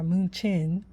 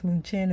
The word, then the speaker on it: München: Okay, so this is Munich or München, um, based on, I guess München is the German pronunciation, but Munich is pretty much how we pronounce it in the US or whatever.